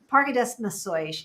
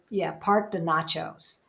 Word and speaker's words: Parque das Nações: Yeah, Parque das Nações is, and I know I'm not pronouncing it great, but I know I'm pronouncing it better than Heather does. She calls it nachos. She calls it, Parque de Nachos.